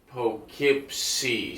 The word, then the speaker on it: Poughkeepsie: He got the first part right because it's like dough. It's like spelling dough. Poughkeepsie.